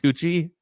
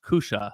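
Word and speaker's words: Küche: It's in German and it's pronounced Kusha.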